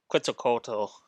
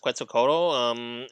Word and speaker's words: Quetzalcoatl: So like, I did like yeah, I really did like Quetzalcoatl. Is that how her name is pronounced? Quetzalcoatl.